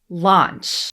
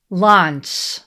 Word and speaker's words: launch: Launch. The spelling here is L-A-U, but in English, we don't say ow with A-U.